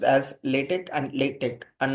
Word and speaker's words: LaTeX: system for high quality type setting and is pronounced as latch and latch and not lat to latex latex